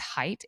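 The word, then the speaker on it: Haidt: his name is Jonathan I think it's height H AI d t I've seen it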